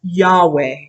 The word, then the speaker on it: Yahweh: Actually, Jews consider the name of God to be so holy that they do not even say God's name, which we pronounce as Yahweh.